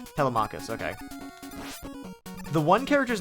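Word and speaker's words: Telemachus: of the names cuz they're all like four syllables long. Telamachus. Telmachus.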